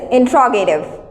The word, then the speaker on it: interrogative: pronunciation of this word its spelling is interrogative but its pronunciation is intrarogative what's that come on